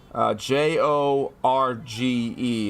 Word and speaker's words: Jorge: Jorge. It's definitely a Spanish influence. Don't worry, I called him George when I was a kid because it's spelled like George. Or spelled like what I thought was George.